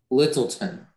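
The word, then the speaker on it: Lyttelton: your word is littleton can you repeat the word littleton could i have everything littleton is the only pronunciation um it's a noun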